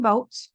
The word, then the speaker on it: vote: OA in vote, the A is totally silent. All we hear is the O.